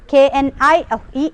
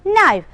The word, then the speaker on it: knife: Here in the word knife there is no pronunciation or there is no sound for the letter K. We read the word K-N-I-F-E as knife.